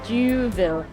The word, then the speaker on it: Youville: front of the Place, I'm not totally sure how you pronounce it, Duville, spelled like Youville. I'm not sure how you pronounce that. Like Whoville? In French, yes, Duville.